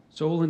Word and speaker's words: Solon: homonym or could be confused with another word Solon it's a noun a wise and skillful law Giver or States person broadly a member of a legislative body Solen o have the definition Solon is a noun a wise and skillful lawgiver